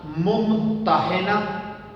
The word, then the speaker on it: ممتحنہ: تو سورت کا نام ممتحنہ اور ممتحنہ دونوں طرح سے ٹھیک ہے۔ دیکھنا، پہلا تلفظ، پہلی پروننسیشن ممتحنہ، ہا پر زیر پڑ رہا، دوسرا ممتحنہ، ہا پہ زبر پڑ رہا۔ تو ممتحنہ بھی ٹھیک